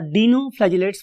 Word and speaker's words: dinoflagellate: That is called as डाइनोफ्लैजिलेट्स. उसको हम next column में पढ़ते हैं. डाइनो और डीनोफ्लैजिलेट्स, whatever you want to pronounce, I love to से डाइनोफ्लैजिलेट.